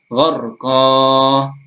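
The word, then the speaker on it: غرقا: kita wakafkan seperti ini, maka kita baca satu alif atau dua harokat atau dua ketukan. Gharqa, nashta, sabha, sabqa. Nah, seperti itu. Amra. Tetapi jika kita sambung atau wasal tadi, maka bacanya bukan gharqa lagi, tapi menjadi gharqau wa sabha.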